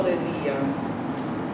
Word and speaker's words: desia: Quando verrà quelli che riveder potrò quel che l'amante cor tanto desia. Quando verrà quelli That was it. che riveder potrò quel che l'amante cor tanto desia. Desia. There's no R in there.